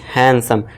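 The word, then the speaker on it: handsome: तो यहां भी क्या पढ़ना है आपको? सीधा एच ए एन एस ओ एम ई यानी कि हैंडसम। डी को समझ लीजिए। है ही नहीं।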